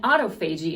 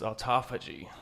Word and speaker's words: autophagy: does this by supporting autophagy in the body amber that's not how you say that it's not no it's autophagy oh crap i've been saying it wrong for months